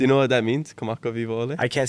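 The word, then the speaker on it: Kamakawiwoʻole: Kamaka Vivo Ole.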